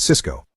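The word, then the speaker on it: Sysco: Jack had told him to buy Cisco, the high-tech company, and Tony bought Cisco, the food distribution company. Both stocks are pronounced exactly the same.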